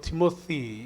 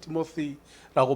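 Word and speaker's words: Timothy: 영어로 티모시 이렇게 티모시라고 발음하는데요. 디모데.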